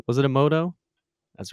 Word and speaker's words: Emoto: challenge uh for the Emoto pack am I pronouncing that correctly was it Emoto that's right yeah um UK house a little